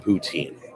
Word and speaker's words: poutine: Sault Saint Marie Canada by the way it's pronounced poutine that's what I said I just said poutine go everywhere in the